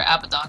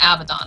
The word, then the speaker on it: Abaddon: Because, like, what's the official pronunciation for Abaddon? Because it's not Abaddon, right? It's Abaddon?